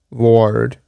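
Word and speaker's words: Bhaird: But mock ward because of the way Irish is pronounced b h a i r d was ward.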